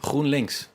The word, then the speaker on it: GroenLinks: Stefan de Vries, what's been the success then of this Groen, how do you pronounce it? GroenLinks.